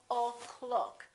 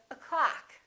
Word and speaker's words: o'clock: are six O's here look at the first word this syllable is reduced in that in this case the first syllable is reduced the second syllable is stressed so this one disappears and becomes this up sound up so we say o'clock we don't say oh